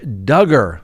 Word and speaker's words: Duggar: presumption of innocence Josh Duggar rhymes with hugger we haven't talked about